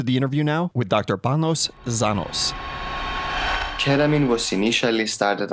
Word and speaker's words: Panos: His first name is Panos. I think I'm saying that right, which is spelled with a P like piano or Peter, but it's kind of a soft P sound, kind of like halfway between a B and a P.